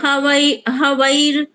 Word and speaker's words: हविर्: ओम ब्रह्मार्पणम ब्रह्म हवैर ब्रह्माग्नौ हवीर, हवैर नहीं, हवीर, हाँ।